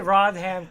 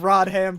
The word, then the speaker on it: Rodham: I can't I'm Rodham I've been a purple raisin man and I've been the guardian AKA Mister please don't punch my boss it's not pronounced rodam Jesus Christ I don't